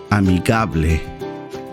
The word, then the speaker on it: amigable: spanish is pronounced similar to amicable amigable that means friendly one